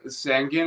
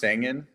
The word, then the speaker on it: Sangin: questions for you um how do you say sangen again s so so you almost got it it's it's pronounced sangan Sang's a Sang's a city in Afghanistan that